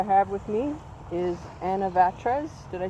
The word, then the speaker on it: Vatres: the artist i have with me is anna vatras did i say your last name right fish